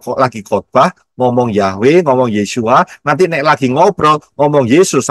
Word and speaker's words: Yeshua: pernah bisa saudara Yin W Ayin bacanya yesua jadi betul nama Yesus